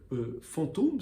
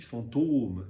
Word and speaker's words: fantôme: Et puis la prononciation a changé, le S a disparu et la syllabe s'est allongée. On a dit fantôme, voilà. Et le chapeau, l'accent circonflexe, servait à marquer cette disparition du S, mais aussi surtout à prononcer la syllabe de manière allongée.